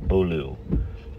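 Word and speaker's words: Beaulieu: Pronounced Bolu. Babaloo, Bolu. Well, Babaloo's pretty close. Bolu. Okay. I thought I read somewhere it's like Boyu or something like that.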